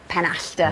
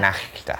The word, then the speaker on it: Penachta: And by the way, it's pronounced Penachta. Penachta. Yeah. Penachta.